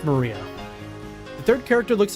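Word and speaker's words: 真里亞: Uh is pronounced Maria.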